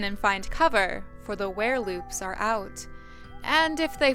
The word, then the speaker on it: Werelupe: episode 25 of neopian lore we're talking about were Loops this episode and I know many many many people refer to them as Lupes instead of Loops because of the spelling I